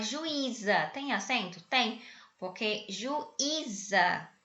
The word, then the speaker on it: juíza: tem acento tem Ok juíza você tem três sílabas e ui ele fica sozinho na sílaba tá Oi e aí